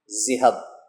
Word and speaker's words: ذہب: پیارے بچوں، زال کو نرم انداز میں بولنا ہے اور ہے کو ہوا سے نکال کر بے پر آپ نے اپنے لب جو ہیں وہ بند کر لینے، ہونٹ جوڑ دینے ہیں۔ اس کا تلفظ اس طرح سے ہوگا، ذہب۔ شاباش۔ تو چلیے اگلے